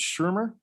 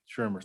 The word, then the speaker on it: Shermer: It's Shermer? Yes, Shofei Shermer. Shermer, thank you. Okay, sorry, I mispronounced that earlier.